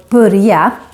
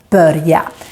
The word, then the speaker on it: börja: So I have the Stockholm accent, and we have a tendency to make the vowel ö sound more like a u sound when it's followed by two consonants. So with this word, we say more börja instead of börja, but both pronunciations are correct.